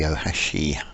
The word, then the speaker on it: Ohashi: a quick video about the oashi wood chippers I believe that's how it's pronounced now these are very